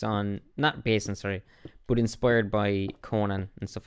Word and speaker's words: Conan: a corn and barbarian barbarian i can never pronounce that word for corn and anyway not corn in her brain conan and you know it is what it is